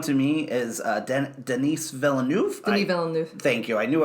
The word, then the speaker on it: Denis Villeneuve: Denis Villeneuve. Thank you. I knew I was going to pronounce it incorrect.